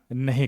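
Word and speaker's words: know: देखिए के अक्षर साइलेंट तब रहता है जब यह वाक्य के शुरुआत में आता है और उसके ठीक बाद क्या हो एन हो उस कंडीशन में हम के का उच्चारण नहीं करते देखिए के एन ओ डब्ल्यू स्टार्टिंग में है एन के पहले क्या है के है के साइलेंट है नो नो का मतलब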